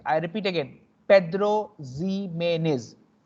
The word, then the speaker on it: Pedro Ximénez: The second one is Pedro Ximénez. Pedro Ximénez. I repeat again, Pedro Ximénez. Pedro Ximénez. Okay, all are Spanish pronunciation.